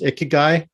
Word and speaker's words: ikigai: it's very related to the i think it's pronounced ikigai this idea that sort of this thing that